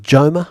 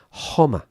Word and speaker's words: Joma: You would think Joma, right? If you were an English speaker, but of course in Spanish, Homer. Homer, like Homer Simpson.